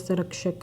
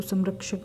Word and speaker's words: संरक्षक: संरक्षक में होता है, तो संरक्षक में होता है सम प्लस रक्षक, तो यहाँ पर र व्यंजन आ रहा है जैसा कि हमने यहाँ पर देखा, तो इसलिए हम इसको म का उच्चारण करेंगे।